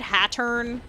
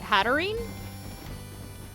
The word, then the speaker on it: Hatterene: I said Hattern for a really long time, but people were like, what is that? So then I started saying Hatterene, and I don't know.